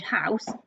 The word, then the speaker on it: house: a lot of words the letter e at the end of the word house is a silent letter okay we're not sanding it out it doesn't have a sound it's just joined onto the s to make the s sound okay so that's tricky